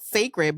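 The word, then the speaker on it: Cécred: It's spelled like CECRED. Right. And it's called Sacred.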